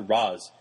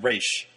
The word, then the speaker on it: Ra's: and he says, "Oh, how's your father, Ra's?" And she's like, "It's pronounced Raish."